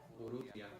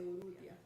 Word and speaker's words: Urrutia: Urrutia. Urrutia. And So then, see, you roll your R's. You told me not to roll your well, because it's harder, so you can say Urrutia.